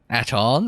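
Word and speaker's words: Atton: It is not your choice, Aton. It is his. What is it you wish to do? Aton, I'm supposed to emphasize the second syllable there. I'm not comfortable with that. Aton is fine.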